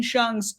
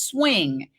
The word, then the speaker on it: Hsiung: The Intercept she says the prosecution has repeatedly mispronounced Wayne shung's surname as swing and it's shun so that's another fascinating